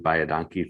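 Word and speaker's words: baie dankie: Bayadanki, thank you in Afrikaans.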